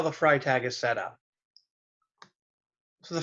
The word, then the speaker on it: Freytag: Talk about how the Freytag is set up. So the Freytag is basically based upon a pyramid. It's actually, the correct pronunciation is Freytag. It's a German individual.